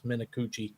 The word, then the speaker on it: Minuchi: I'm not going to lie, I had to go to their pronunciation guide to get this. And you are correct. It's Minuchi.